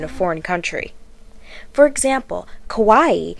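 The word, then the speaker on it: かわいい: foreign country for example Kawaii is a common word used to mean cute or adorable however Kawai without the extra I means pitiful or sad and it is pronounced differently so obviously even one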